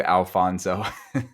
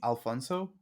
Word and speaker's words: Afonso: just adopted it and put the L is silent in the front, but because a lot of Spanish communities and people from the U.S.